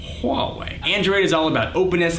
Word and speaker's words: Huawei: by Motorola Samsung LG Huawei that's how you pronounce that Huawei Android is all about